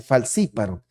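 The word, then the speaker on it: falciparum: esos es el plasmodium falciparon se tiene que pronunciar como sh falsiparo ya ven que los esa es una es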